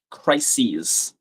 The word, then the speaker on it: crises: That sound It's six crises. Yeah, I think his book was about the political crisis that he was involved in or something. And crisis rhymes with Pisces, which is the real confirmation.